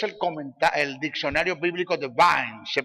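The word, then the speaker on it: Vine: el diccionario bíblico de vin se pronuncia se escribe vin se pronuncia vins Sí sí claro claro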